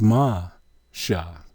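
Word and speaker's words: מֹשֶׁה: from right to left first letter is a mem how is it pronounced ma second letter is a shin how is it pronounced shh the third letter is hey how is it pronounced ha you put these three letters together with your vowel which is an i sound in between you have ma so moses's name is ma shah what does martial mean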